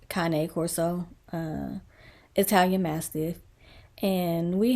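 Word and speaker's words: Cane Corso: channel diesel was a seven-year-old um we say Kan Coro but I believe that is pronounced Kane Corso uh Italian Mastiff and we had diesel for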